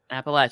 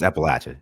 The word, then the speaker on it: Appalachia: my brain because they taught me how to say it properly because I'm British and I don't really know so I I don't know Appalachia that's how you say it right yeah it's appalache yeah appalache just making sure